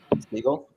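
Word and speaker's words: Siegel: Seagull. Seagull. Okay. Like Bugsy.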